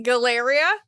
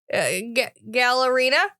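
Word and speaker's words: Galerina: She also mentioned the deadly galleria. Gallerina. Gallerina. That's how you pronounce that word.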